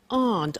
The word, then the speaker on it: aren't: they aren't cheap so the difficult here is the pronunciation of AR not which is Aunt okay a good so